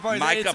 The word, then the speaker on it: Micah: He can't even pronounce Michael's Micah's name. Micah Par Michael Parsons. It's Micah Parsons.